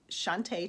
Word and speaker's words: Shawnta: You can retrieve my contact information by texting my first name, which is spelled SHAWNTA, to 85377. So text Shantae to 85377.